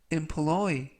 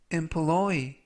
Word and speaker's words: employ: 그는 서울 시민이 되었다라는 뜻이 되겠습니다 이번 표현은 employe employe employe라고 발음하시면 되겠고요 이때 강세는 뒷부분에 있는 알파벳 5의